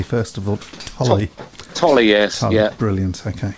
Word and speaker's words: Tolley: Am I pronouncing your name correctly, first of all? Tolley. Tolley, yes.